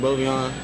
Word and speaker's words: Bovian: Do you call it Bovian or Bovian? It's Bovian. It's pronounced differently.